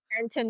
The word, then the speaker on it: Panton: Panton? How do you pronounce that? Panton, you had it right.